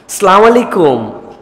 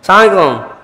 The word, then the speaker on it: আসসালামু আলাইকুম: হাসি মুখে সবার সাথে সালাম দাও, আর সালামের বিশুদ্ধ উচ্চারণটাও শিখে নাও। আসসালামু আলাইকুম, সুন্দর না শুনতে? বিরাট বিরাট লোকজন দেখবেন এরকম করে সালাম দেয়, সালাম আলাইকুম, সালাম আলাইকুম, সালাম আলাইকুম।